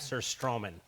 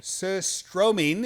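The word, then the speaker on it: surströmming: the name absolutely right it's just like sir strumming very nice all right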